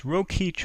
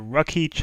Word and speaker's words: Rokeach: There's Rokeach or Rukeach. I've heard it pronounced both ways.